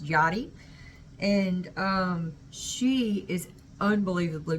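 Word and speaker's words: Yari: is uh Johnny G it's spelled y-a-r-i but it's pronounced Yadi and um she is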